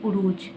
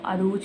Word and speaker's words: Arooj: जो है वैसे जो सही इसकी प्रोनाउंसिएशन है वो है उरूज, लेकिन मैंने बहुत ज़्यादा देखा है कि लोग इसको अरूज पढ़ते हैं। अरूज, नॉट अरूज, ये उरूज होता है।